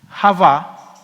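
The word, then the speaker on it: חוה: mismos nombres cuando uno adam en hebreo voy a colocarlo aquí como se pronuncia entre paréntesis adam y java qué es la palabra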